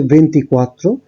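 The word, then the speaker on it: ventiquattro: 24 এর ক্ষেত্রে উচ্চারণটা হচ্ছে ভেন্টিকোয়াত্রো, 25 এর ক্ষেত্রে ভেন্টিচিনকুয়ে, 26 এর ক্ষেত্রে ভেন্টিসেই, 27 এর ক্ষেত্রে ভেন্টিসেত্তে, 28 এর ক্ষেত্রে ভেন্তত্তো, 29 এর ক্ষেত্রে ভেন্তিনোভে।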